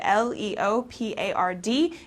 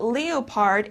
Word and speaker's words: leopard: danny says okay leopard l-e-o-p-a-r-d it's not leopard it's leopard okay so this is